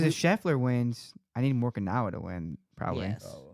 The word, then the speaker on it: Morikawa: Because if Scheffler wins, I need Morikawa to win, probably. Yes, Oh. yes. You need more. Yeah. Who Morikawa?